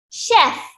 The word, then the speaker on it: chef: C-H-E-F. But this one you have to pronounce as sh. You don't say ch. No. We say sh. Okay. Sh. Chef.